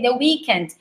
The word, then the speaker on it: The Weeknd: Como é que se pronuncia The Weeknd? Ok? The Weeknd.